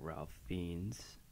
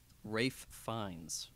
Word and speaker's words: Ralph Fiennes: You got Ralph Fiennes. Rafe Fiennes. Oh, I don't know how to say his name. Is it really Rafe?